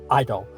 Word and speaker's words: Idol: He's called Idol. And it's pronounced EYE, like the word eye, as in like, you know, your pupils and such. And there's doll at the end, which is DOL. So yeah, Idol.